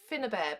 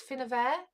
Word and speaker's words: Finnabair: Now, I've been saying Finnabair, but when I heard her pronounce it, it's Finnabair. So I've got to start saying Finnabair, not Finnabair.